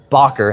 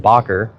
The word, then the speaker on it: Bakker: contributing curator, Bob Barker, not Bob Barker, sorry, Bakker, however you want to pronounce it, Bakker, worked with the Houston Museum of Natural Science.